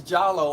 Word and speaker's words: Diallo: area Mauritania Senegal because my name is Diallo pronounce giallo on the African continent and I have an